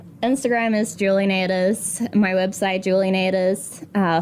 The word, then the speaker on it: Nataas: like pronounce it different ways, but we're going Nadas.